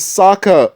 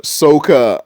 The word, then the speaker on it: Sokka: Why is Sokka Soka? Like, he got everybody's name wrong.